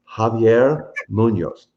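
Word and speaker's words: Javier Muñoz: i'll be there let's say his name properly javier munoz very nice very nice i've been tutoring mark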